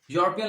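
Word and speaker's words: European: तो इसी तरह एक और एग्जांपल आप लीजिए, यूरोपियन लेडी, यूरोपियन को जब हम लिखेंगे तो ये भी या की साउंड के साथ प्रोनाउंस होगा, या की साउंड जो होती है वो कॉन्सोनेंट साउंड होती है, तो इसलिए यूरोपियन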